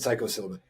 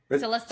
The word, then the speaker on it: psilocybin: I'm adding too many syllables here. I said psychoan. Yeah, it's syllabin. Psilocybin.